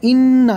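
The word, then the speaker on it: إنّ: তারপরে ইন্না এখানে ইন্না শুধু গুন্না হবে গুন্না নাক দিয়ে হয় নাকের মধ্য থেকে গুন্না হয় গুন্না হবে কোন টান হবে না অনেকে ইন্নাটা গুন্নাও করে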